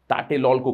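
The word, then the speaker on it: Tlatelolco: पहला एरिया, सबसे पहला एरिया है टाटेलोल्को ट्रीटी, इसको प्रोनाउंस किया जाता है टाटेलोल्को करके, ठीक है।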